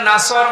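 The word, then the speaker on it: نصر: হয়েছে এখানে আছে নাসর মানে সাহায্য আর নুন সিন নাসর মানে এগল পাখি আপনি যদি মুখটা গোল করে শুদ্ধ করে উচ্চারণ না করেন অর্থ আকাশ পাতাল পাল্টিয়ে যাবে আল্লাহ পাক বলেন নবী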